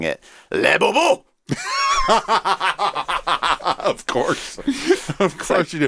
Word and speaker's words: Labubu: my 6-year-old was asking about the Labubus.